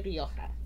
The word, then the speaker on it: Rioja: of the wonderful wines of El Coto de Rioja. Did I say that correctly? You said perfectly. Perfectly. Very good Spanish pronunciation.